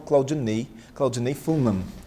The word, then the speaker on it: Claudiney Fullmann: se apaixonar pelo conteúdo dele, que é o Claudinei Fulman. Essa é a pronúncia correta?